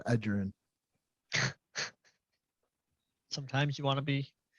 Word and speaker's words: Edgerrin: He called him Ed Guerin instead of Edgerrin.